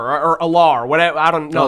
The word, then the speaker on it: Allar: More Drew Aller or Allar, whatever. I don't know how you pronounce his name. Exactly. The quarterback from Penn State. I believe his name is pronounced Aller.